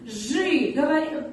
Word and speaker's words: жи: Ж, потом и. Жи. Пишем и, а произносим мы. Ж звук всегда будет твердый.